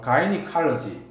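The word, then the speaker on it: gynecology: 발음은 가이니칼러지. 발음은 가이니칼러지 이렇게 합니다. 입니다.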